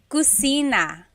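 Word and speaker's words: kusina: So, kitchen in Tagalog is cusina. Cusina. So, in Tagalog there is no letter C. So in Spanish, if it's spelled with a C, usually in Tagalog, it's spelled with a K because there's no letter C naturally found in the Tagalog alphabet.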